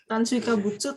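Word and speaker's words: 炭水化物: Bacanya adalah apa tuh? Tansui kabutsu.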